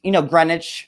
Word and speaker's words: Greenwich: But Connecticut has Greenwich is very like bougie. Wait, that's another question. Okay, why do they call Greenwich? It's Greenwich. It's a green in there.